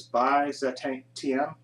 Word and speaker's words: Byzantium: And the movie I'm talking about is 2012's, I guess you pronounce this Byzantium. I guess that's the pronunciation of it.